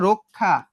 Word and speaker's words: রক্ষা: তো এই যে রক্ষা, দেখো তো রক্ষা, র এর সঙ্গে একটা অযুক্ত ছিল না? হ্যাঁ অযুক্ত ছিল, এবং অর পরে কি আছে? ক্ষীয় আছে, তাহলে উচ্চারণটা কেমন হবে? রয়ে ওকার ক ক্ষয় আকার, রক্ষা।